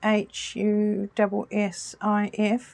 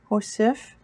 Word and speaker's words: hussif: It can be H-U-S-S-I-F, Hussif, or H-U-S-W-I-F, Hussif.